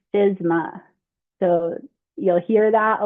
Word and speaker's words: FSMA: Okay, so FSMA, it is a federal law and it means the Food Safety Modernization Act and it's pronounced FISMA.